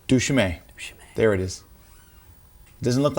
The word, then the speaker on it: duChemin: Anyway, it's from Dave I always pronounce his name right. Duchemin. Duchemin.